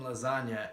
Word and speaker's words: lasagna: don't understand trust me see the G in lasagna is silent and gangsters move silently